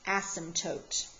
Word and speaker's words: asymptotes: weird but that P is silent so we pronounce this asymptotes ok vertical asymptotes are the imaginary line that